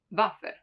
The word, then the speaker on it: Waffe: While for Waffe, for example, since it comes from German and that's how they pronounce it, it stays as Waffe.